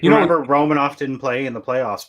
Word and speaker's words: Romanov: reasons i think because it was last name i was mispronouncing it and that's okay and uh it is romanov um in practices during